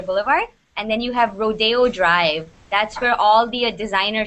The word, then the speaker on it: Rodeo Drive: rodeo drive okay no this is actually pronounced rodeo drive rodeo okay so when you